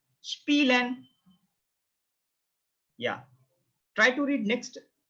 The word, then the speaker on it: spielen: Note down, IE. You have to pronounce as E. So try to read it. Try to read it. Spielen, spielen, spielen, to play. To play, it's called to play. Spielen, spielen, right? IE sound like E, E.